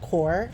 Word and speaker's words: QoR: we were away and apparently this paint palette the qor is called core so like I should have seen that coming because I knew I was saying it wrong even though it was